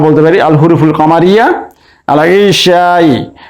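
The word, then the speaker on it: العشاء: আল ইশাই এর আলিফ লামের লাম উচ্চারণ হচ্ছে, তাই আমরা এটিকে বলতে পারি আল হুরুফুল কামারিয়া।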